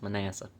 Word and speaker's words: Manasseh: Manasseh. It's apparently pronounced Manasseh.